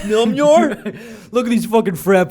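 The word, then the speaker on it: Mjölnir: Yeah, when Captain America picks up the hammer, whatever it's called, Mjolnir. Yes. Mjolnir. Some dude that comes to me, it's actually pronounced Mjolnir.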